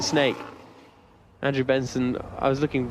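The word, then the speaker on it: Sneek: I think it's called Snake. I think you pronounce it Snake.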